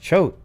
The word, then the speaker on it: Choate: jessica schubach oh hey it's pronounced chote okay there's another bite